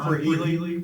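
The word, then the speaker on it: Krehely: John Freely, Freely? Freely with a K. Can you spell that for me, please?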